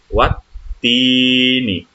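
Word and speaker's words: والتين: Maka itu tidak dibaca, diloncat aja langsung dihubungkan ke huruf ta di sini yang ada tasdidnya. Maka dibacanya seperti apa? Dibacanya wattini. Ya, langsung kan, alif dan lamnya nggak bunyi kan?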